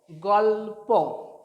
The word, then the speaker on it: গল্প: Next দেখুন, গ লয়ে পয়, গ লয়ে প, গল্প গল্প উচ্চারণ হবে গল্প।